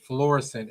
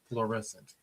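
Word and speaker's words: Florissant: L and they said florescent is nice." Florescent. Yes, fllororescent is this here. Fluorescent. That's when you know somebody from out of town they say fluorescent, but it's florescent spelled like that kind of.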